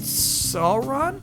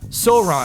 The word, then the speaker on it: Sauron: It is pronounced Sauron. Sauron. Sauron. Sauron. It's pronounced Sauron and Balro.